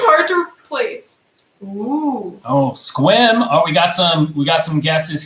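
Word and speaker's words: Sequim: So this is a city in our state of Washington, and it is pronounced Squim. Squim.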